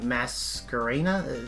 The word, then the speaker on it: I:P Masquerena: Spark Dragon, Number 103 Ragnarok, Borrelsword Dragon, I:P Masquerena. Is Is that how you pronounce it?